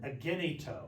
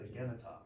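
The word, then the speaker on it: ἐγένετο: Because your brain is going to want to say agenito, right? That's what your English brain's going to want to say, but it's agenita.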